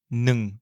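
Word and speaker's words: หนึ่ง: Le chiffre 1 se dit nung. C'est certainement le plus difficile à prononcer pour un francophone. Il commence par le son N et finit par le son ng, comme dans les mots ping-pong ou parking.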